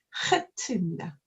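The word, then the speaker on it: חית: 히브리어 중에서 가장 강한 후음에 해당합니다. 목구멍 깊은 곳에서 소리를 내는 후음 중에서 가장 센 소리다라는 거죠. 그래서 표현하자면 히읗과 키읔 사이 아니면 독일에 이제 마흐 할 때 그 흐와 유사하지만 사실은 그거보다는 마흐는 그냥 흐 하는 건데 이 히브리어는 좀 들어보면 거칠어서가 문제가 아니고 목구멍 깊은 데서 나와서 발음을 따라하기 어렵더라고요. 그래서 안에서부터 나오는 목을 긁는 소리로 하게 되는데 하트입니다.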